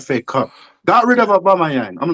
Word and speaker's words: Aubameyang: Did Did I say his name correct? Obama. Right. Obama. Yeah. Obama Yang. Right.